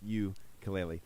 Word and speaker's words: ukulele: i get it but it was supposed to be pronounced you kaleli the spork cd is